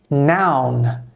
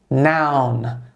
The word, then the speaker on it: noun: substantivo em inglês é noun essa é a pronúncia noun parece muito com a palavra não da nossa língua n então para dizer